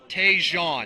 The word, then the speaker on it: Tjon: How do you pronounce it? Tjon.